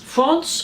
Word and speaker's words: Frans: we have a lovely France with us France France how you pronounce holes as a country like the country that would make sense and you're from Paris